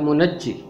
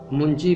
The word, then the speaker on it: منجی: تلفظ کرنا سیکھتے ہیں۔ پہلا لفظ ہے منجی، جسے کئی لوگ منجی بھی پڑھتے ہیں۔ یہ فی الحقیقت دنیا